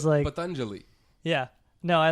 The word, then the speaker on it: Patanjali: It's like you got it not wrong, but you did it so slow because of your fear. It's Patanjali.